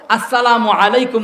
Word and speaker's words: আসসালামু আলাইকুম: সবাই বলি আসসালামু আলাইকুম এই বিশুদ্ধভাবে হামজা উচ্চারণ সহ আসসালামু আলাইকুম বলে সালামটা দিলে 10